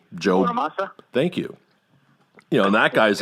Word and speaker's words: Bonamassa: Then you had all these, Joe, I can never pronounce his last name. Joe. Bonamassa?